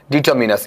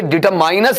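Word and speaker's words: determiners: इसका उच्चारण सुन लीजिएगा, क्या है? डिटरमिनस। इसे डिटरमाइनस नहीं बोलना है, ये एक डिटरमाइन नामक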